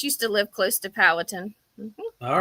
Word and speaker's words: Powhatan: Powhatan.